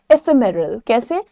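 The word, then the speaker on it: ephemerals: इन्हें प्रोनाउंस करते हैं एफेमेरल्स एमरल एमरल एफेमेरल्स अगेन ये सब ऐसे ही बोलोगे ए फेमर सो इ जब जल्दी से बोलोगे तो इह हट जाएगा वहां पे ह का साउंड हट जाएगा तो आप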